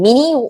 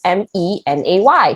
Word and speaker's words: Mênê: Mini? What kind of company calls Mini, I was like, no, Ma, it's called Mênê. You pronounce it as MENAY. She's like, oh, it sounds like money.